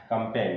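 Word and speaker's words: campaign: Last है आपका कंपेन, कंपेन में देखें तो जी एन साथ में आए हैं तो यहाँ पर भी क्या हो गया, जी क्या हो गया, साइलेंट हो गया।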